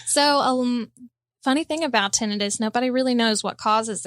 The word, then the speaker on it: tinnitus: pronounce the word properly i'm sure i would have said tinnitus right right but but the the ringing in the ears that the is that the thing we're talking about so um we in the audiology community pronounce it as tinnitus well then that's what